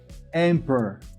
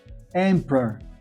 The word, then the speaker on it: emperor: Imperador, emperor. Emperor. Olha só, primeira sílaba, am. Segunda sílaba, a primeira vogal não fala. Per. Emperor. Sempre assim.